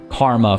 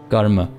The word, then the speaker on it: karma: Like karma, for example, isn't actually karma, but the M sound at the end kind of has like a hint of an A, you could say, I suppose, and that's why the A gets tossed in.